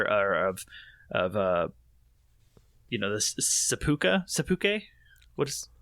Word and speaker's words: seppuku: code or whatever, or of you know, this seppuku. What is seppuku?